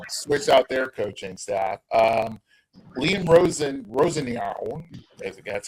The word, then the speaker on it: Liam Rosenior: Liam Rosenior, that's how you pronounce his name.